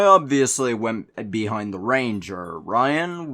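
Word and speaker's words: Ryin: went behind the ranger ryan which is spelled r-y-i-n and i spent a few years thinking it was pronounced rhian but also the barbarian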